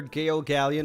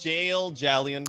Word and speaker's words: Gale Gallion: Prosecutor Gale Gallion, what is No, sorry. No, your? it's pronounced Jail Jallion.